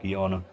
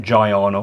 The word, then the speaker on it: Giana: ever read the blurb so it should be pronounced guyana not gianna or gianna yeah but no one pronounces it